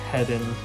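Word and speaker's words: Heddon: So this color right here, and this is made by, I think it's pronounced Hedden.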